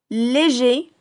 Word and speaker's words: léger: Léger, sans prononcer le R pour le masculin, légère, c'est le nom commun au féminin.